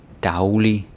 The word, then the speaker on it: daglig: So something like daglig, dagbog, saglig, sagsøge. On their own, it's day, and then say. But because they're prefixes, then they are pronounced dag and sav.